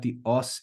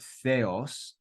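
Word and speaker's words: θεός: like th in LA in English we pronounced it with the th sound then we've got Epsilon here we saw the uppercase Epsilon here we see the lowercase Epsilon and then we've got the OS ending again just like logos so we've got Theos Theos um but before we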